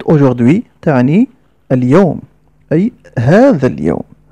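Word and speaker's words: aujourd'hui: وراينا وهف بعدها مباشره هناك حرف اش الذي اتفقنا على انه لا ينطق اذا نقرا الكلمه وكان بعد حرف دي هناك مباشره اي التي تنطق اذا نقرا الكلمه هكذا كلمه اجدو تعني اليوم اي هذا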